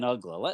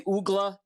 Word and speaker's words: Uggla: What was the weirdest pronunciation you heard for Dan Uggla? Oh, guys would say Ugla, and not so much pronunciation, but also because he was a Rule 5 guy, nobody knew who he was.